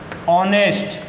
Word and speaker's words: honest: जिसमें ओ आ रहा है यहाँ एच साइलेंट रहेगा, उच्चारण में ओ आ रहा है तो इसमें भी एन का प्रयोग होगा।